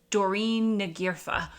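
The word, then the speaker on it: Doireann Ní Ghríofa: I started this video, and I believe it's pronounced Doreen Nagirfa, but she is an Irish author, and I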